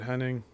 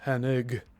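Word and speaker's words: Hennig: a Mandela effect because there's no N before the G now it's just Henig and we were never pronouncing it that way.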